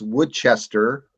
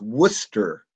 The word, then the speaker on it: Worcester: You know, like there's a city that's spelled looks like it's Woodchester, but it's pronounced Worcester.